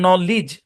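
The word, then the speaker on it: knowledge: খুবই মজার একটা প্যাটারন ডিজি অথবা ডিজে থাকলে ডি সাইলেন্ট যেমন দেখেন এই শব্দের উচ্চারণ বাজেট কারণ ডিজি একসাথে আছে বাজেট এই শব্দের উচ্চারণ ফ্রিজ ডিজে একসাথে আছে এই শব্দের উচ্চারণ ব্রিজ এটার উচ্চারণ নলেজ বা আমরা নলেজ বলতে পারি নলেজ এখানে দেখেন এই শব্দটাকে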